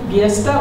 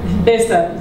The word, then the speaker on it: Biesta: Lynn Mario as well, Biesta or Besta. This is Besta. This is the author corrected our pronunciation, okay, it's not like that.